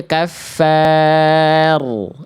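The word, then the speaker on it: كفار: Poin eh poin dibaca tipis ketika diawali oleh huruf berharakat fathah harusnya tebal. Jadi tadi Bunda bacanya gini. Heeh. Kalau tebal angkat pangkalin aja. Jadi tadi Bunda baca gini ya. Bunda baca gini. Lolumun kaffar. Enggak salah. Betul. Tapi kurang maksimal. Harusnya kaffar. Angkat pangkal lidahnya ya.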